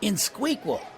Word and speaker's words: INxSQL: I think it was InsQL. You mean INXSQL? That's in SQL.